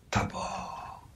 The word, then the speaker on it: Tabor: il serait anéanti brisé le mot Tabor est un mot Hébreux qui se prononce Tabor c'est un T en hébreux c'est TBR si vous